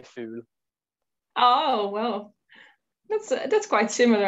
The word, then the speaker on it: fugl: In Norwegian, you say fool. Oh, well. That's quite similar, actually. Yeah. How do you spell it?